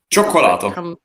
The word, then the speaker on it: cioccolato: How do you pronounce that? Cioccolato.